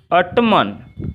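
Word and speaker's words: autumn: अब अगला है आपका 4 में है टू ऑटमन। अब देखिए टू ऑटमन, यानी कि हम एन को क्या करेंगे, साइलेंट करेंगे। एन को हम साइलेंट करेंगे तो हमारा शुद्ध क्या होगा, टू ऑटम।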